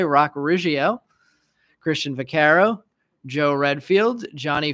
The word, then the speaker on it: Riggio: I've been saying Rigo. Totally missed that second I. Rock Riggio.